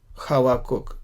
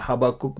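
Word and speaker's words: חבקוק: ये खा नहीं, हा नहीं, लेकिन हवाकुक, हबाकुक बोल सकते हैं हिंदी में, लेकिन इब्रानी में ऐसे बोलते हैं।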